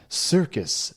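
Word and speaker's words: Cirqus: to be i mean it's circus but it's spelled wrong is that like the canadian spelling of circus or something it's it's like french-ish it's spelled yes c-i-r-q-u-s circus voltaire it has the this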